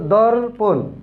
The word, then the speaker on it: দর্পণ: উচ্চারণটা কিন্তু এই র বা রেফের উচ্চারণটা কিন্তু আগে হবে, এরপরে প, তারপরে একটা মূর্ধন্য ন হয়েছে।